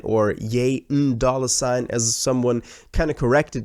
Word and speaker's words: ¥$: of corrected me because that would be the perfect way to pronounce this new album because of yay and the N from Yen and then dollar sign but it also means